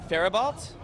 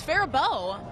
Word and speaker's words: Faribault: Farabalt? That was really close. It's Faribault.